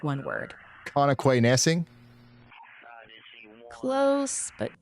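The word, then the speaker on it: Connoquenessing: It's Kanakwanesing. Say it fast, and it sounds like one word. Kanakwanesing?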